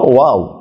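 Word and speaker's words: و: তারপরে হলো ওয়াও, দুই ঠোঁট গোল করে ওয়াও ওয়া ওয়া ওয়া ওয়া।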